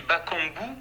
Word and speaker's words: Bakambu: Déjà, la prononciation de votre nom, moi je suis journaliste radio, on dit Bakambu ou Bakambut? Bakambu, Cédric Bakambu.